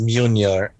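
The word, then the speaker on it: Mjölnir: In the legend, this eventually puts Thor on the quest that leads to the creation of Mjornir. I do not know how to pronounce that.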